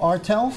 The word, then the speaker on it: Ertel: Again, I'm here with my co-host, Jose Miranda, and we're here with Ertel. Is that how you pronounce it? Yeah. Ertel?